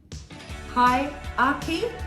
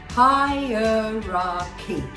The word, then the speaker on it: hierarchy: you just say hierarchy hi aki did you just say that if you did i'm afraid you're wrong the right pronunciation to this has four syllables higher key that's the way you